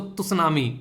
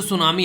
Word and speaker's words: tsunami: कई बार सुनामी आप लोगों को देखने को मिलती है, जिसको तुसनामी, टी साइलेंट होता है, सुनामी होता है TSUNAMI, ठीक है।